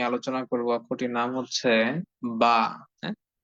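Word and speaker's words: ب: কারণ বা অক্ষরটি উচ্চারিত হয়ে থাকে দুই ঠোঁট থেকে, দুই ঠোঁটকে একত্রিত করে, দুই ঠোঁটকে মিলিয়ে দিয়ে একসঙ্গে করে দিয়ে যুক্ত করে দিয়ে বা অক্ষরটি উচ্চারিত হয়ে থাকে।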